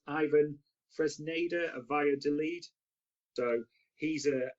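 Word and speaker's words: Iván Fresneda: I think it's pronounced Ivan Fresneda of Valladolid.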